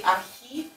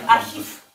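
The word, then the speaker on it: архив: So we don't say archiv. It's so hard to do that. I have to think about vowel and other things. Archiv. Archiv. And right. So it's pronounced like f.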